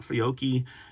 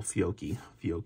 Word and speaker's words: Fiocchi: I tend to like Fiocchi mainly because my picky eaters, and this one's not a picky eater.